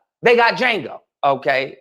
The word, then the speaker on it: Django: Django isn't a slave. Django is a free man. You understand? They got Django. Okay, the D is silent.